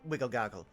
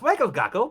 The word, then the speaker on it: Wegglegoggle: Excuse me, Master Wigglegoggle. My friend here. Oh, yes. Go ahead. It's pronounced Wegglegoggle, but yes. Sorry, it's gnome names have so many intricacies. I'm so sorry. Wagglegoggle?